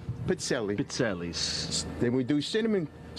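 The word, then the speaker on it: pizzelle: And would you please pronounce this cookie's name correctly? Pizzelli.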